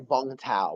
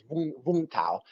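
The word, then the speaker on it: Vũng Tàu: So Vung Tau, it's actually pronounced. It looks like Vung Tau, but it's Vung Tau.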